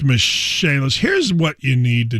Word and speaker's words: Michaelis: for the michaelis corporation spelled like michael is but pronounced michelle's here's what you need